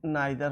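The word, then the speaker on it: neither: से अधिक के लिए, ये नाइदर हो जाएगा, इसको हम नीदर भी प्रोनाउंस करते हैं।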